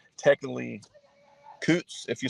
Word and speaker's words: Coutts: Is it Coutts? Is that how you pronounce it? Coutts? That's it's a Scottish name, but it's technically Coutts if you spell it, or pronounce it properly.